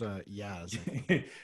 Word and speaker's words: jazz: And I'm still not very good at jazz, but it's pronounced yaz. It's a soft J. Yaz like, flute. Like yogging.